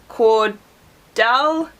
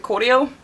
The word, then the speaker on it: cordial: is Cherry cordio now I've seen a lot of Americans call it cordal but it's I don't know we pronounce it cordial I don't know you